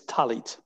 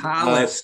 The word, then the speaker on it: talit: Tzitzit, and it's talit. Talit and tzitzit. Talis, it's a talis. That's a difference in dialect. Yes, okay. The Yiddish.